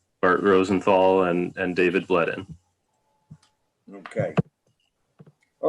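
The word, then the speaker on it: Bledin: agenda uh rosenthal and bledden is am i pronouncing that right bledden b-l-e-d-i-n steep slopes permit on center road yes that is correct oh good okay okay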